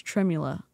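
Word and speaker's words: tremella: I don't know why it's spelled tremla with an e when it's tremula.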